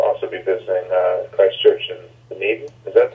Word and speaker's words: Dunedin: And we'll also be visiting Christchurch in Dunedin. Is that how it's pronounced? Dunedin?